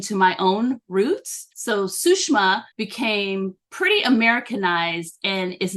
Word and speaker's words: Sushama: Sushama is a Hindu name, and its correct pronunciation is Sushma.